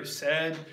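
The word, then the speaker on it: Cedd: We know for sure that his brother Ced, that's spelled C-E-D-D.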